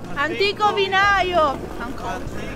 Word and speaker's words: Antico Vinaio: Simona, how do I pronounce it? Antico Vinaio!